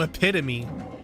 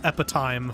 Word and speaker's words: epitome: Oh, epitome. Yes, I also thought that was epit time for a for a very long time.